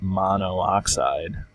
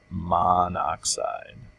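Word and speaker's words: monoxide: weird so what we do is we don't pronounce it mono oxide we actually pronounce it ma oxide okay like that so and then we shove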